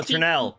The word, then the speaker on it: Ternal: I don't want to pronounce it wrong. Ternal? Oh, Ternal.